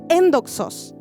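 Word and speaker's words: ἔνδοξος: Gloriosa en este griego se pronuncia endoxos.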